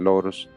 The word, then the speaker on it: loros: So the chestnut color right brown others dusky and lorto muchos bu cast otros foss and loros the latter to rhyme with toos.